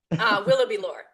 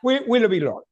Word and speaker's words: Willoughby-Lohr: Her name is Willoughby-Lohr. I'm pronouncing okay? Willoughby-Lohr, yeah. Willoughby-Lohr, okay.